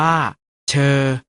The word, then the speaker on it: เฌอ: ประสม กับ สระ เออ สะกด ว่า ช เออ อ่าน ว่า เฌอ เจอ คำ ว่า เจอ